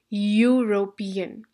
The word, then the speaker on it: European: the word European now European begins with e but do you get the sound of e or do you get the sound of Y you get the sound of a y European so this is not